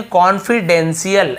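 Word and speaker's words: confidential: अ कॉन्फिडेंशियल, ठीक है, इसे हम क्या पढ़ेंगे, कॉन्फिडेंशियल, ऐसे पढ़ेंगे, डेंटियल या डेंटियल नहीं पढ़ेंगे, कॉन्फिडेंशियल, ये डेंशियल स ऐसे उच्चारण होता है, फॉर यानी के लिए,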